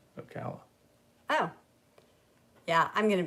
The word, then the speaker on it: Ocala: Mike's pronunciation is correct. Ocala.